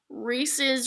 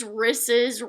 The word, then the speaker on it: Reese's: those peanut butter cups you know uh it's Reese's risses Ross I've heard it all so there's one